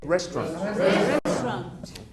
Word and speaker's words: restaurant: President to say get restaurant so good restaurant okay so we've got a silent syllable restaurant if you don't want